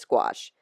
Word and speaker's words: gouache: It took me a long time to learn how to say gouache because it's spelled funny to me, right? It's like gouache, but it's gouache. rhymes with squash, as someone told me.